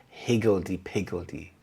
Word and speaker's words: higgledy piggledy: means disorderly or chaotic the stress is on the first syllable Hig higgledy piggledy the children's toys are